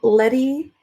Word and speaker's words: Lety: um did you notice how Letty and Eddie sound like they rhyme even though Letty is spelled le T Y C and Eddie here is spelled e d bi e but the way I pronounce him because I don't say the T and Letty very sharply it sounds similar I thought that was